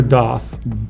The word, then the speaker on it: doth: Is it death or doth? Doth. D-O-T-H.